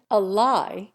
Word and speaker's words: ally: mama, papa, inquiry, and ally. Americans almost invariably accent each on the first syllable.